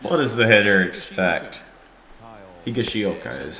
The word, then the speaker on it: Higashioka: Higashioka is how you pronounce it.